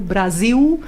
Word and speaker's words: Brasil: Como sabemos todos, o L final, o L velar, eles pronunciam como U, pois, não é? E portanto, assim, Brasil rima com viu, e em português é impossível, não é?